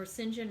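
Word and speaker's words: St John: that gentleman is mr saint john or sinjin rivers i sinjin is like his kirsten name and his sisters are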